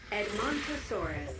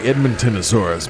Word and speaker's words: Edmontosaurus: Edmontosaurus. Edmontosaurus. Harry's called the Edmontonosaurus, but that's not right. That's wrong.